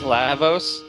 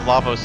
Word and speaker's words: Lavos: I believe it's pronounced Lavos.